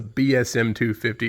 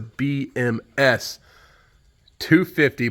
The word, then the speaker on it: BMS 250: I've been calling this a BSM 250. It's a BMS 250, but it's a Woodmizer.